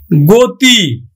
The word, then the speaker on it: গতি: গতি, তাহলে আমরা উচ্চারণ করব গয়কার তয় রস্বই, গতি।